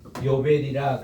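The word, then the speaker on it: יובל: 희년을 히브리 말로 뭐라고 하는 게 요벨이라 그래요.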